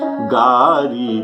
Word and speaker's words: गारी: समय सुहावनी गारी बिराजा, गारी अर्थात गाड़ी, जैसे गये जो तो लंका जारी, लंका जाली, जो बार ही थे अर्थात बालपन में ल को र उच्चारण किया जाता है यह अवधि भाषा में।